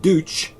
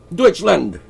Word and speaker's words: Deutschland: Deutschland. Deutschland. Not douche. Not douche. Douche.